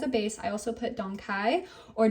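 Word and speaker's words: dong quai: base I also put Don Kai or dongu um dongu is the correct way to say it but you'll also see it as Don Kai it's a very beautiful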